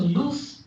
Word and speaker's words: loose: o that you know but what is at the end at the end if you have voiceless sound then the length is less so loose is shorter then lose right